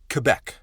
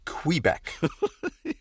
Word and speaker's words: Quebec: Right out of the gate, y'all, it's pronounced Quebec, not Quebec.